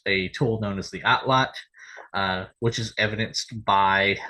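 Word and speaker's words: atlatl: yes most of the time you'll hear it pronounced at lle but outlot uh is the correct pronunciation because outlot is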